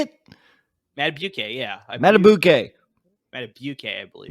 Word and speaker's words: Madubuike: Madubuike, yeah. Matabuke, I believe. Matabuke.